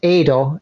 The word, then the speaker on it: Eido: So Adrian, if you pronounce it in Japanese, it's actually pronounced Eido. So just EI is pronounced A.